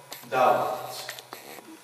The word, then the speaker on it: doubt: Letter B in some words are not pronounced. Like the word doubt.